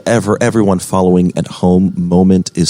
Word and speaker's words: Momnt: absolutely um and ever everyone following at home moment is spelled without vowels they're expensive yes well no